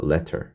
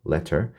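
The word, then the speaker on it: latter: 나중에 맞죠 나중에 보자 발음이 좀 달라요 얘는 한글로 써보면 레터처럼 발음합니다 letter 리를 넣어야겠죠 letter 나중에라는 뜻이에요 나중에가 아니라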